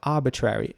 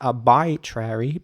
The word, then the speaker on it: arbitrary: arbitrary is spelled a-r-b-i-t-r-a-r-y arbitrary and what I want to emphasize here is the I again in the middle it's not pronounced arbitrary but arbitrary and this means based